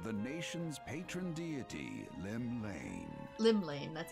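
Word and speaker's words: Llymlaen: Limlane, that's how you say it.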